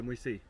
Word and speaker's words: Moisei: Moisei. Moisei. See? I'm pronouncing it right now, Moisei.